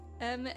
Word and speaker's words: Manahem: Listen, her name is Manahem. It's spelled like this. M-A-N-A-H-E-M. That's Manahem.